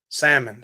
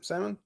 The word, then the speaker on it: salmon: it Michelle salmon salmon is that like Samson you just take the S out salmon salmon Salmon well I don't